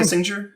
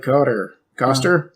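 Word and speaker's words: Koster: Kissinger? Is it Kissinger? No, it's like Coster.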